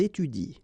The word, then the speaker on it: étudient: exactly the same rule because you don't pronounce this and then even if it's at the plural form, so and t, well, you don't pronounce it, so you will get ils étudient.